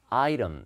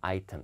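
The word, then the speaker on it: item: 2시고요 그 다음에 요 발음이 아이템이 아니라 아 이름 이렇게 읽어요 티 사운드 는 어여 약간 이렇게 부드럽게 아 이런 이렇게 미 자연스럽습니다 물론 영국 사람들은 아이템 이렇게 기도합니다 아 이런 아이템 소리 다 챙겨 드시구요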